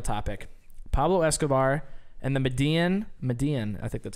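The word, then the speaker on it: Medellín: Pablo Escobar and the Medellin, I think that's how you pronounce it, because of the two L's make it a silent Y, Medellin Cartel.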